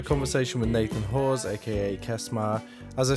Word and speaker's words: Kesmar: Kesmar is spelled K E S M A R in case you weren't sure.